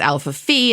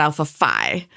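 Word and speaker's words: Alpha Phi: has nothing following it the letter is actually pronounced fee that's why my sorority is Alpha Fe and not Alpha fi and I know there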